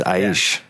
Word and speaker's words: Aish: Well, it's, technically it's either one. It depends on where you're from. Like if you're from the States, it's Aish, just because of the way you pronounce the letters. If you're from pretty much anywhere else, it's Aish.